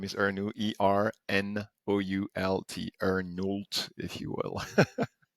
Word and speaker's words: Ernoult: And my last name is Ernoult, Ernoult, Ernoult, if you will.